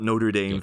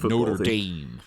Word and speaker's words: Notre Dame: Dame t-shirt oh yeah the pronunciation of that in America angers me sorry Americans no just pronounce it properly but then yeah for